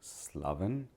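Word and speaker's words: Slavin: elements to it tell me your name and spell it for the camera sure my name is slaven that's m o r d i slaven s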